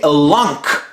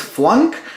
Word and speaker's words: Lunk: I always think it's flunk or I always think it's lung like lungs like human lungs and I'm like I don't know why I have a hard time remembering lunk lunk it's like link